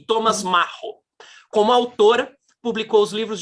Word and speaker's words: Macho: Max Frisch e Thomas, Macho mesmo que se pronuncia? Não, é Macho. E Thomas Macho.